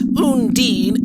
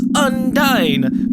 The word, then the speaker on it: Undyne: People were like, it's not Undine, it's Undyne. But they spelled it just U-N and then D-I-N-E. But because I originally pronounced Undine as Undine, just kind of doing like U-N makes me think of Un again. So, I don't know. We're just gonna say it's Undyne.